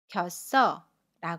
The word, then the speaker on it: 겼어: 만납니다 그러면 받침 당시 05:00 이응 자리로 가서 겨 써라 고 발음 해요 연음 입니다 겨 써 그래서 문장으로